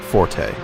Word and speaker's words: forte: I'm almost positive I heard somewhere that it's fort, not forte. I think people use it so much like that I think it's almost become the new standard. Sort of like it's an accepted pronunciation for something once it's just so repeated.